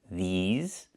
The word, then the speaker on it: these: Make sure you make the long e sound like green beans. These plus the z sound like in zebra and zipper z with a voice.